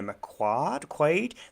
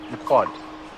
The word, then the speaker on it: McQuaid: Are you Ms. McQuaid? Quad. One syllable. McQuad. Well, two syllables, but the second part is one syllable. Wad. MacWad.